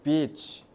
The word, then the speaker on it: beach: 저 be 발음 잘해야 돼. beach이라고 해야지. B이러면 쌍년이란 뜻대 알겠지? 발음 길게 하세요. 큰일 납니다. 그래서 beach 그래서 너도 밤나무 뭐 뭔지 모르겠는데 어쨌든 오일이랑 팬드.